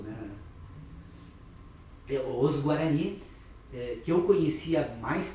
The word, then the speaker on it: Guarani: Tanto que os Guarani, aliás, que é a pronúncia correta no sistema conceitual nosso, né? Os Guarani, que eu conhecia há